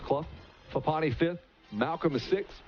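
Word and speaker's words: Clough: the number three spot clo c-l-o-u-g-h although it's pronounced club fupani fifth malcolm is six blekka is seventh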